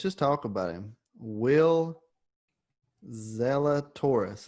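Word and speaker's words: Zalatoris: talk about him will zella taurus is that how you say his name that's it man will zilla taurus will zelda taurus finished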